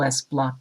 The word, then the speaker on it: lsblk: In this Linux tip, we’re going to look at the lsblk (pronounced “l s block”) command that provides information